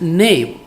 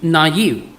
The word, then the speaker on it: naive: As an example, I originally read N A I B E as name. But its correct pronunciation seems to be naive.